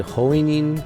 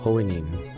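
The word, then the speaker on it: Hououin: Yeah, I just did Hoinin Kiyoma hop world lines. I learned how to say his name. I gotta practice this. It's Hoinin. Hoinin, right? Hoin. Just Hoin.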